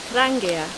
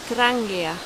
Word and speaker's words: Trangia: have hilleberg hilleberg and of course i have trangia trangia there is a knife maker call hultafors hultafors